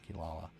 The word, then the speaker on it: Kirara: Yeah, Kirara or Kilala because that is the cat from Inuasha that is spelled like that, but it's pronounced with L's. Um, and I love Kilala.